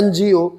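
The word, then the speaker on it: NGO: अब आता है एनजीओ। एनजीओ में प्रोनाउंसिएशन पहले करते समय क्या निकला? एन, ए निकला।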